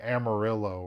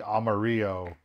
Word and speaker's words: Amarillo: that texans are pronouncing amarillo wrong that it should be amarillo for uh yellow like it literally means yellow i learned that i